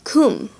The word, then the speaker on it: cum: And lastly, for the short vowels, the vowel U is pronounced like the U in put. An example is the word cum, which means with.